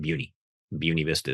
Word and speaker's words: Buena Vista: Buun Vista is how you say the town.